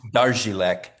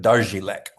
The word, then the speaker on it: Dařílek: Did I say it right, Darílek? Well, my grandma would correct you. It's Okay. pronounced Dařílek, and that's Ah, because there's some accent marks that don't translate from the Czech alphabet into English mm, so well.